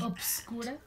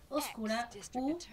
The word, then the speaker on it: oscura: ¿Obscura? Así se dice, entonces, ¿cómo se dice? Puede ser oscura u obscura.